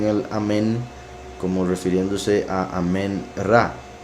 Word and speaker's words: amén: Pues se supone, o sea, los que ponen amén, por decirlo así, no saben que se pronuncia amén. O sea, la pronunciación más correcta es amén.